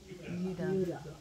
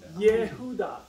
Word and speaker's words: Judah: Kingdom is called Judah which in Hebrew is pronounced what Judah close it is Yuda why because you got to pronounce that J